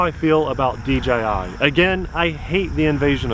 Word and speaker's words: DJI: However, I'm also really glad to see DJI, not DGI, a lot of people pronounce it incorrectly, with a budget option,